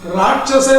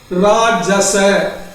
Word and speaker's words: ராஜச: பக்கத்துல பையனது ராஜச கணம் ராட்சச சொல்லக்கூடாது ராஜச அந்த உச்சரிப்புல அர்த்தம் மாறிடும் ராஜச கணம் அப்படின்னு இருக்கும்